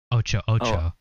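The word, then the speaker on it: Otso Otso: too much anymore but ts is pronounced as ch so it was ocho ocho ocho yeah so in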